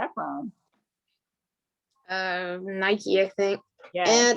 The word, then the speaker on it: Nike: The brand itself says that this is how you pronounce our brand, so that's how we should pronounce it. It's Nike.